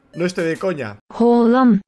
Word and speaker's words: Haaland: Esa letra que no solemos ver en realidad no suena tanto como una A. Esta letra se pronuncia O. No estoy de coña. Haaland.